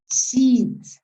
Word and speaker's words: sheet: Es una I larga, porque si la I es corta, ya estamos hablando de otra cosa. Sheet. Tienen que imaginarse que hay varias I, por lo menos 3. Y ¿Ya? Sheet. Porque la otra es sheet.